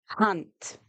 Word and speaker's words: hand: And just like in English we have hand but remember with the a we say a. So hand in Africans is hunt.